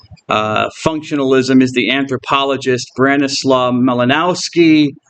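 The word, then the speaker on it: Bronisław Malinowski: functionalism is the Anthropologist branis melanowski or you could pronounce bronos swav malinovski he was a Polish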